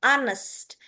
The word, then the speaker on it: honest: Dibacanya kita kita hapus yang H ini. Nah, O ini kita ganti menjadi A. Jadi, bacaannya adalah honest.